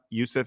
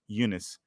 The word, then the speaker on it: Eunice: Like, Jesse, look, I'm sorry, it's not Yusuf, it's Eunice.